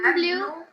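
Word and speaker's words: bleu: the pronunciation of b-l-e-u blue blue if e u is blur o e u sound is o so what it becomes it becomes blue then what is the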